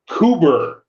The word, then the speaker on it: Coober: So like you've got Cooper Pey spelled like it sounds or it's Australia so no. Okay. C O B E R Cooper. Coober.